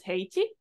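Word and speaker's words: 平地: So yeah, if you want to talk about plain flat down, that'd be pronounced as heichi with that kanji, like I told you that flat rear learner in your heichi.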